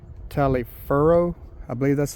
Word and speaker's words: Taliaferro: I think it's Taliaferro. I believe that's how you pronounce it. So upon learning his original name, he immediately started going by Booker Taliaferro Washington.